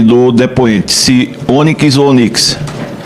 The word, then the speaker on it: Onyx: Se Onyx ou Onix? A minha mãe gostava da letra Y, ela botou Y no meu nome, então trocou a fonética, é Onix, porque a pedrinha preta é Onix.